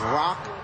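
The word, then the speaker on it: roku: 6-1 in Japanese that's Rock to itch the number six is rock and the number one is pronounced itch one two and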